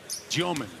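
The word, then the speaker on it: Demin: Forget about the spelling on the back of the jersey, folks. The pronunciation is Tyomin. Yegor Tyomin from Russia.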